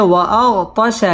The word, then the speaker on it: وأغطش: وأغطش ليلها وأخرج دحاها ওয়াও ঠোঁট গোল করে উচ্চারণ করতে হবে ওয়াগতাশা লাই জবরের বাম পাশে